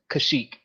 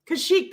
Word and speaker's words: Kashyyyk: names and stuff name of the wookie's homeworld kashyyyk kashyyyk that's how you spell it k-a-s-h-y-y-k yeah y-y-y-k right okay yeah yeah